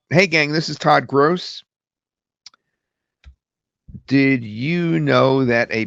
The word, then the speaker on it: Gross: Hey gang, this is Todd Gross. Now, sometimes it gets my name wrong. It says Grass, so I'll write Gross like that, which sometimes it pronounces Gross, but it's closer.